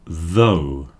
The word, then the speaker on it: though: The first word is though. The last word is dough. You see how the th is pronounced v.